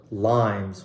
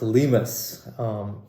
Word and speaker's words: Limes: The brand is called Limes. Well, not exactly pronounced Limes. It's a German brand under the Ickler umbrella, the same people that make Archimede. A great bang for buck brand, pronounced Limes.